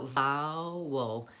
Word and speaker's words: vowel: So vowel. Might be helpful to break it up into 2 syllables. Vow has the ow vowel, and the anchor for ow is the ow vowel, like brown cow.